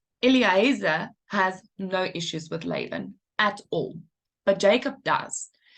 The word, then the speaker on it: Laban: So the B sound can be pronounced Laban or Laban. It's interchangeable in Hebrew, so that's why you keep seeing Laban, right? But the V and the B is interchangeable in Hebrew.